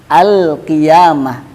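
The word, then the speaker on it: القيامة: Makanya dibacakan tetap al-qiyamah. Al-qiyamah, lamnya tetap jelas.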